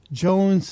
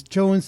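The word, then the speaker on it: Johne's: For a condition called Jones disease, a condition that's suspected of causing Crohn's disease. Jones disease is spelled Johne''S.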